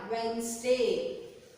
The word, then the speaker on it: Wednesday: W-E-D-N-E-S-D-A-Y. Wednesday. What is the day? Wednesday. What is the day? Wednesday. Here D is silent.